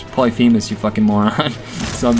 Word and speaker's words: Polyphemus: Everybody calls it Polyphemus, but I heard recently that it's actually pronounced Polyphemus.